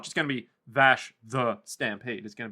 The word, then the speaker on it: Vash: episode 13 entitled Bash the Stampede or as it is actually pronounced as I keep up my tag. Vash the Stampede.